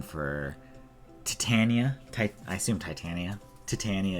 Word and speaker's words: Titania: Titania is how you say it in the Marvel Cinematic Universe. Actually, in the Marvel Cinematic Universe, it's Titania.